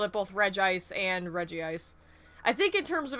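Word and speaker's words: Regice: tatter seeds got him do you prefer reggie ice or reg ice as uh pronunciation um considering the other two are called reggie steel and reggie rock i call it reggie ice but i've honestly i've i prefer the reggie eyes because it's consistent with the other two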